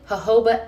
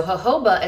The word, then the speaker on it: jojoba: This has a rounded jojoba ester. So jojoba is that stuff that's spelled jojoba, okay, that y'all all say wrong, but it's a little